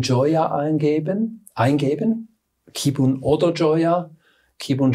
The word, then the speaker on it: Joya: Ja, man kann ganz einfach bei Google Kibun Joya eingeben, Kibun oder Joya. Kibun schreibt man K-Y-B-U-N und Joya mit J-O-Y-A.